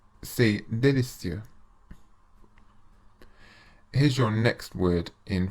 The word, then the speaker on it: délicieux: The letter E with an acute accent, like the one in délicieux, should be pronounced like the vowel sound in the English word pay, but without the Y sound.